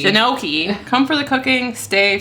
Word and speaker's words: gnocchi: cauliflower gnocchi is that how you say gnocchi janoki jinoki come for the cooking stay for the mispronunciation of everything gnocchi gnocchi I said it right so you're talking to